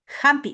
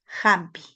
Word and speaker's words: hampi: En vez de la J se escribe la H. Hampi. Es un sonido suave.